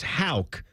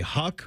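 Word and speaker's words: Haugh: He mispronounced the name. It's Hal.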